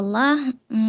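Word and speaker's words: الله: Oke, kata Allah, Kalau kata Allah, kalau ini bacanya fathah. fathah. Fathah dan harus tebal. Kasrah. Harus tebal ya, A-nya ya. Fathahnya Ya, fathah iya. tebal. Ya, lafaz Allah didahului fathah, maka dibaca tebal.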